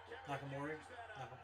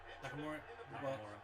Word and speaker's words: Nakamura: makes a great opponent for I can never pronounce his name nakamori shinsuke nakam for shinsuke nakamori Nakamura Nakamura I'm sorry anyway while he makes a